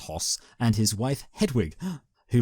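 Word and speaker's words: Höss: AIT commandant Rudolph hos I believe it's pronounced hos and his wife Hedwig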